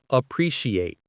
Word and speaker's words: appreciate: The T in appreciate often sounds like a ch sound in American English, like appreciate.